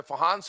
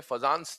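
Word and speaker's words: Fajans: इसे फहंस रूल कहते हैं। है ना? स्पेलिंग के हिसाब से फजानंस दिखता है। बट फहंस रूल कहा जाता है।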